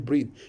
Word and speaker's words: breathe: mouth ends in TH, but there is E after the TH in breathe. So how do we pronounce it? We say breathe.